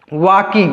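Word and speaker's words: walking: एस से ज वाज वकिंग इसको क्या पढ़ेंगे वकिंग वाकिंग इसको यहां ल साइलेंट है यल को नहीं पढ़ते हैं तो य क्या हो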